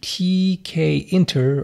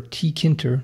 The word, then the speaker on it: tkinter: to do now is jump back into tkinter, or tkinter, depending on how you want to pronounce it.